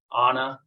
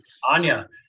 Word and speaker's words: Anya: And some of the women that you've coached, like Anna, I think, am I pronouncing her name correctly? Anya. Yep.